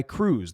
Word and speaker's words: Krewe: These parades are put on by crews. That's spelled Krewe, crew.